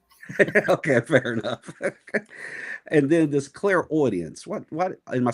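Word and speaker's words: clairaudience: And then this clear audience. What? What? Am I saying it right? Clare audience.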